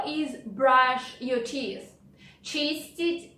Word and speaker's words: чистить: Чистить зубы.